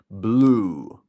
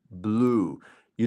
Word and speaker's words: blue: is making ooh yeah you see blue blue you don't see the e at the end it's not Bluey but the E is making that u sound even stronger there blue blue very good